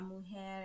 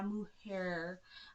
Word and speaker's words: mujer: pronouncing things correctly because you have got to roll your r's when you're speaking espanol okay don't be la mo hair okay okay so um